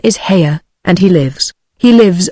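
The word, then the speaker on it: Haigha: does them when he's happy his name is haa he pronounced it so as to rhyme with Maya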